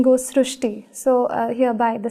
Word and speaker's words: Srushti: So that is why the pronunciation goes Srishti.